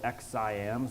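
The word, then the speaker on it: XSIAM: So Palo Alto Networks came out with a new product called XIAM, so that's spelled X-S-I-A-M.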